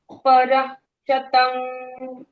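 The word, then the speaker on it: परःशतम्: पारिषद पारिषध्या correct परतम फिर समा पर प और र के बाद विसर्ग है तो विसर्ग का साउंड पर के जैसे आ पर पूरा ह साउंड नहीं आधा पर शतम शतम ओके जी पर शतम पर शतम नॉट परह बट इट्स परह क्षतम ठीक है ठीक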